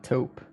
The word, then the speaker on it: taupe: Sounds like taupe. comes from the French word for mole.